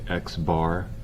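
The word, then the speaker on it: x̄: So this is pronounced, the way you read this, you'd say X bar.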